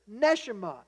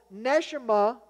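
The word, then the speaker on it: neshamah: is also this word nesima NE e s h e E M A and again it's we just trying to spell it how it sounds in the Hebrew so nesima and ruach meaning the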